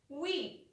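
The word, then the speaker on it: oui: want to say yes you will say we it is spelt as we if you have to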